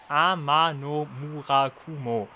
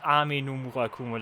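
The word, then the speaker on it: Ama no Murakumo: Amano Murakumo. Not Amino Murakumo, like I know it.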